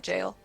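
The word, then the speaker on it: gaol: that it's the it's the jail District g-a-o-l because you pronounce that jail oh yeah um yeah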